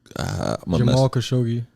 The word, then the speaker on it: Jamal Khashoggi: How do I pronounce? Jamal Khashoggi.